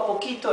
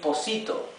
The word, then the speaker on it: poquito: Why don't we say poquito like this? Because the C changes its pronunciation if it's followed by an I. So this would be posito.